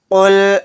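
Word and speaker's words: قُل: क़ुल अऊज़ु बिरब्बिल फलक़। क़ुल अऊज़ु बिरब्बिल फलक़। क़ुल अऊज़ु बिरब्बिल फलक़। क़ाफ़ लाम पेश क़ुल, हमज़ा ज़बर आ, आइन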